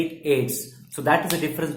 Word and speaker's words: AIDS: as a very you know popular acronym is AIDS okay we don't pronounce it we don't pronounce the letter distinctly we don't say a IDs we say it ace so that is the difference between a coding